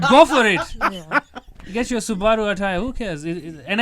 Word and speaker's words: Subaru: attire who cares and i hate people who say it's subaru it's not subaru it's it's a japanese car yeah the japanese don't have silent letters yeah yeah it's a subaru it's it's japanese oh i don't know